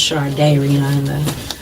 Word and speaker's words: Shardayreon: It's pronounced Shardayreon.